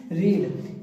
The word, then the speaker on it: read: तो पढ़ना क्या बनेगी हमारी, रीड। इसकी थर्ड फॉर्म भी क्या होती है, बोलते इसको रेड, लेकिन स्पेलिंग क्या होती है, READ, सेम ही रहती है।